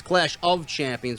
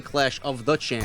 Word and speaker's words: Clash of Champions: it the right way it's Clash of Champions but he was saying clash of the Champions clash of the Champions